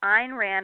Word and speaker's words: Ayn Rand: a slight correction the the way she liked people to pronounce her name was called Ein Rand and so Ein Rand was actually a name